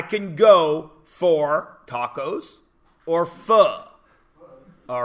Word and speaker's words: pho: I have to choose how many times I can go for tacos or pho. All right? That's how you say it. P-H-O is pho. It's not pho.